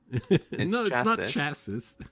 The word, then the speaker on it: chassis: yes in the chassis which from the french so you don't pronounce the s at the end no it's chassis so let's do